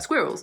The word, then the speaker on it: squirrel: I hear a lot you can just cut it into two square well it's squid Road squirrel squirrel squirrel squid